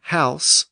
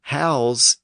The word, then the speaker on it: house: So we have close with an S sound, but we might close the door with a Z sound.